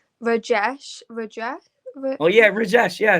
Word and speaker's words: Rajesh: Rajesh.